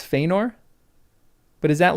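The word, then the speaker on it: Fëanor: So it's not FOR, right? It's Fenor. But is that like more nasely or is that only at the beginning? For. Fenor. It's Feyenor.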